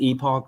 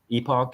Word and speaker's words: Epoch: AFCO hat we've got is you pronounce it Epoch or epic Epoch Epoch Epoch so they they've been